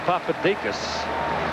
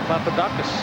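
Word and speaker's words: Papadakis: He likes to pronounce the name Papadikas. Back when his daddy played and I did games, they called him Papadakus. Yeah. And if daddy wants Papadakus, it's going to be Papadakus.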